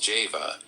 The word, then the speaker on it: Jehovah: by the letter j whence Jehovah should be pronounced Java and this point leads